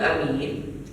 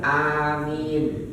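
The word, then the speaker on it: أمين: Wal doin a-nya panjang amin Maka jangan salah tuh ya bacanya wadin Amin bukan amin amin Anya panjang ya kalau Amin yang aman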